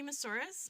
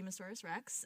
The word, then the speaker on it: Moussoris: appreciate being here so my name is miss Oris pronounced like a dinosaur miss where's Rex I am chief Policy